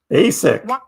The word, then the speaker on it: ASIC: ASIC. All right, it's pronounced ASIC. Oh, you got me again. You're right. It's pronounced ASIC, not spelled out.